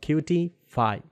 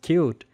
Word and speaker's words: Qt: open source release of qt5 qt is officially pronounced as cute however many people say it is a qt that's the reason i